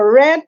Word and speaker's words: read: es porque estoy leyendo Red porque el pasado de read es red leer presente red pasado se escriben igual entonces aquí como está